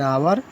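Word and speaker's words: hour: नियम 3, जब किसी शब्द का पहला अक्षर एच हो और एच ना बोला जाए, साइलेंट रहे, तो उस शब्द के पहले एन आता है, जैसे एन आवर, an honest man, एन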